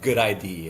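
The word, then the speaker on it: GUDID: So basically like for the US they have the good ID. It's spelled G UD ID.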